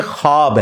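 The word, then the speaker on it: خواب: नहीं आ सकता अच्छा ये लफ्ज लिखने में है ख्वाब ख व अलिफ बा लेकिन पढ़ने में यह खवाब है व साइलेंट हो जाता है ख्वाब पढ़ा जाता है यह लफ्ज उर्दू में खवाब खवाब नहीं है ख्वाब लिखने में खवाब है तो फिर उन्होंने वो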